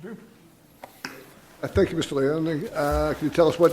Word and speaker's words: Leone: Leone. You pronounce the E at the end? Yeah, we do.